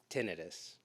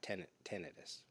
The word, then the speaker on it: tinnitus: I've spoken many times about my tinnitus. So, many people have tinnitus or tinnitus, depending on how you pronounce that, the ringing in the ear.